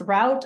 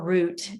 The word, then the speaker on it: route: decided over land route it could be pronounced route or route either way one of those tomato tomato words okay let me give